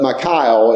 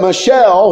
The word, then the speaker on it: Michal: But Michal is basically a more appropriate name to say her. But she liked David. But do you know that Michelle, which I'm going to say it that way, it's not how you say it, but I say Michelle.